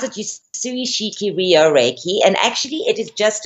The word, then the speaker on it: Usui Shiki Ryoho Reiki: it's you pronounce it Usui Shiki Ryoho Reiki, and actually it is just another term for Western Reiki.